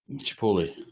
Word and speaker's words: chipotle: There was also one with chipotle chilies in it, which was tasty. Chipotle. Is it? It's pronounced Chipotle.